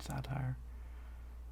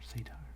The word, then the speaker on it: satire: This game um, leaned really heavily on like cyberpunk kind of corporate corporate satire or say tire, depending on how you pronounce it.